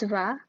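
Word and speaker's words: vas: For tu, it becomes va. The S is silent.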